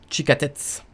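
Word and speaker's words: 地下鉄: le métro se dit en japonais chica tête tchika tête ici qu'est ce qu'on a qui sait la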